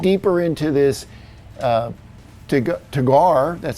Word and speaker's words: Teguar: And like I promised in my last video, we're going to dig deeper into this uh to Tagar. That's how you pronounce it.